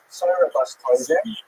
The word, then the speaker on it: Sarah Bas Tovim: Her name is Sarah Bas Tovim, or pronounced in her time, Sarah Bas Tovim, right, from the Yiddish pronunciation.